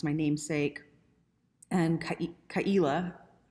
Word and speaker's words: Ka'ila: it's my namesake and kaila is actually pronounced it's like a guttural aila aila and i'm not saying it right my dad always